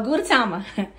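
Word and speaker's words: Gudetama: what's the little Qui character gu gu um Guama no what is it oh gatama so gatama look it's so cute oh my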